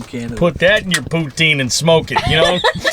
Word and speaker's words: poutine: put that in your poutine and smoke it you know CH neck oh God do you pronounce it poutin or Putin it's Putin see okay bear corrected me I got I get